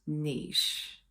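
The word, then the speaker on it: Niš: to their third largest city which is called Niche yes now it's spelled n in English it's not pronounced n it's pronounced Niche okay got to get it right serbs get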